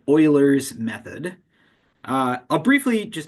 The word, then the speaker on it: Euler: briefly just mention here notice that the way this is spelled it looks like it should be called ul's method uh but this is a mathematician uh whose name was pronounced Ed as Oiler and it's an easy